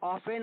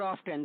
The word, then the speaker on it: often: He soon became an in often, या ऑफेन और ऑफ्टन दोनों इसका प्रोनाउंसिएशन है, तो ऑफ्टन heard shehnai player on radio.